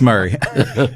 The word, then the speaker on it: Murray: okay Franklin 3600 um Murray County that that's how it's pronounced here I got to I got to figure these counties out I heard a joke though one time it was Mari instead of Murray that was a fun